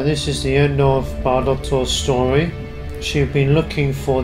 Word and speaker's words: Bairdotr: So now we know how to pronounce her name, Bairdotr.